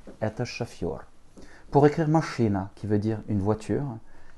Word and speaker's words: машина: L'accent tonique tombe sur le I. Machina. Еще раз. M, A, Ch, I, N, A. Machina. Une dernière fois. M, A, Ch, I, N, A. Machina. Avec le A premier et le dernier qui se prononcent comme des petits E.